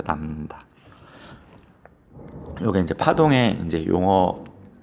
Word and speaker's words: 람다: 파장이라고 해서 많이 쓰기 때문에 이런 한자에 들어갈 립처럼 쓰고 읽을 때는 람다라고 읽어요. 람다.